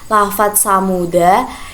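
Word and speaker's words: ثمودا: Yang pertama itu lafaz samuda, itu jika wasal huruf dal dibaca pendek dan waqaf dal dibaca sukun.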